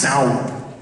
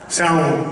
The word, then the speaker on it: Samhain: But I think it's pronounced Samhain. Samhain, right?